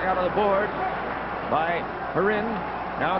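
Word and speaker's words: Kharin: Sergei Heron, to say the K is silent.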